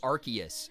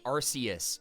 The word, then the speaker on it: Arceus: Yeah, and that's the problem is, so like, some people say Arceus. Some people say Arceus.